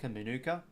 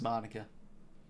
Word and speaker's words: Manuka: people say call man Manuka it's it's pronounced manica know like manica honey all that yeah hope